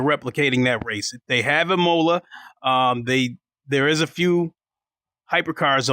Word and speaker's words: Imola: They have Imola.